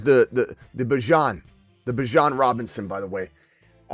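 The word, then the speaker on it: Bijan: He says it's not a big deal, but my name's not Bejon. how you he goes I don't care how people pronounce it but you pronounce it Bjon Bjan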